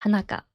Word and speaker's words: Hanaka: My name is Hanaka. "Hanaka" seems to be a bit difficult for people from other countries to pronounce, so everyone calls me "Hana." Either is fine. "Hana" or "Hanaka," please call me whatever is easier for you.